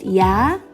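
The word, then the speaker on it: ㅑ: down right down right the second one is pronounced yeah and you go down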